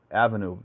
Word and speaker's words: A Venue: venue it's near it's it's called a venue it's spelled like Avenue but it's a venue let's see oh you